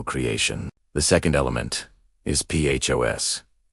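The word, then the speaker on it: φῶς: The second element is phos pronounced fos.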